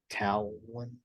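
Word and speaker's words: Taillon: I still want like someone like a Jameson towel one that's how you pronounce it I feel like we could get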